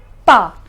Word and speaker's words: pas: The pronunciation is ne and pa.